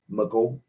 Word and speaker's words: Micheaux: Oscar Micheaux, Micheaux. I know that AUX down here, we pronounce it Bo, or O. It's an O sound. Mako.